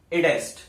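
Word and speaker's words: id est: इसका जो है वो क्या है प्रोनाउंसिएशन? इडेस्ट। इडेस्ट इसकी प्रोनाउंसिएशन है फुल फॉर्म की, और जिसका मतलब क्या होता है?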